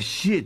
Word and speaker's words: 獬: これでシエと読むんだそうだ。